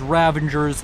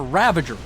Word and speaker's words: Ravager: levels of firepower as ravangers now on the field did i say ravanger there's no n in there ravager say it properly i don't have some